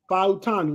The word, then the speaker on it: Fautanu: So I know Fautanu.